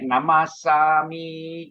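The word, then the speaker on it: namassāmi: example here, Ahang Pite Namasami. Is it? The first P-I, I don't drag because it is not the last syllable. I is always short here. Ahang Pite. But the last I drag Namasami. That is just for the melody, that's all.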